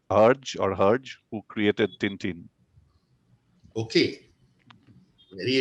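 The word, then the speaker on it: Hergé: It's a French pronunciation, Mr. Herge, who created Tintin.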